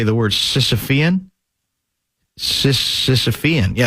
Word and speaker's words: Sisyphean: Sisyphean. Yeah, Sisyphean.